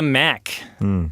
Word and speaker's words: MAHC: Graham: MAHC is an acronym and unless they're talking about Mack's earplugs which they don't have the right spelling. It's M-A-H-C, which might not be immediately obvious from how I pronounced it.